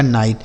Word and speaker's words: knight: KNIGHT तो के देखिए यहाँ के साइलेंट होगा बच्चों, यानी के साथ अगर के रहता है तो के साइलेंट होता है। तो क्या पढ़ा जाएगा इसे? KNIGHT तो NI से पढ़ेंगे नाई, GHT से ट से पढ़ा जाएगा नाइट।